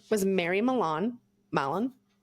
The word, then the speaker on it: Mallon: Mallon. I probably should have looked at how to pronounce that, but it's Mallon. So take your pick. Mallon. No, Malone would be Malone, I believe.